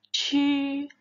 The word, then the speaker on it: 吃: Kalian jangan lupa lidah kalian harus diletakkan di langit-langit mulut kita. Jadi chu. Nada satu ya.